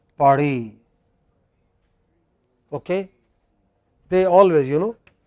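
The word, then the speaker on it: Paris: a language like french in french it is always the last syllable so they pronounced pari okay they always you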